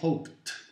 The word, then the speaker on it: hoped: Alors, hope va devenir hoped. Ça se prononce T.